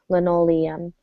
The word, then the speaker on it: linoleum: really have much feedback be careful with linoleum that one sounded a little harder make sure there are two syllables at the end Liam linoleum and go ahead give